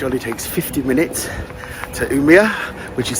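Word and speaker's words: Umeå: takes 50 minutes to umia which is spelled u m e a but you pronounce the a like a o so it's like umia you see so um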